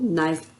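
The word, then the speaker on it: know: ना होता है लेकिन इसे हम नो का उच्चारण करेंगे और के साइलेंट रखेंगे यह चीज हमको विशेष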